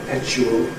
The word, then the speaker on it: perpetual: What Daniel Jones called ‘perpetual’ , most people nowadays call .